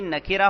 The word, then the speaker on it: نکرہ: ہیں۔ نمبر 1 نکرہ، اس کا صحیح تلفظ کریں گے نکرہ، نون پر زبر، کاف کے نیچے زیر، را پر زبر، نکرہ۔ اس کو یوں نہیں کہیں گے نکرہ۔ اسی طرح دوسری قسم